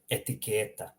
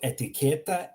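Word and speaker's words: etiketa: Notice how I'm pronouncing the first word here. Etiqueta. The first one is a short E. Second one is a longer E.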